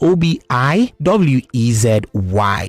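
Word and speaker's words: Obiwezy: comom they also on X at Obi wizy literally Obi wezy Obi wezy is spelled OB i w e z y yes Obi wezy follow them on all pages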